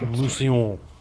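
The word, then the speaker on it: Mousillon: Just Muslon, but with French accent. Musillon.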